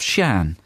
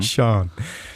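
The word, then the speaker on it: Sian: So, well, the husband of Shan. Thank you for sending Is that that. S-I-A-N? Yeah, I was saying it wrong. Sean.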